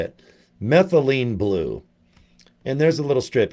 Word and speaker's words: methylene blue: I called it meth blue Eileen. Or whatever this is. You can post about, how do you say it? Methylene blue.